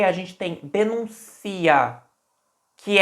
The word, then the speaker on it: denuncia: acento estava no u agora eu pronunciei denuncia denuncia Olha onde tá a ênfase no i denuncia tá pensem como